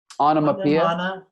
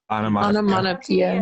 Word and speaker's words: onomatopoeia: It was like, how do you pronounce it, Jolie? Onomatopoeia. Onomatopoeia.